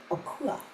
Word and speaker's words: Akua: And Mother Tanetta and Mother Akua, is that how I say her name? Yes, yeah, Akua, yes.